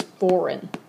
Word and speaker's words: foreign: When people say this, usually what they're trying to pronounce is foreign.